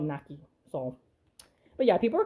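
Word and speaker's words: Naky: I remember people made fun of me because I called her Knack Y.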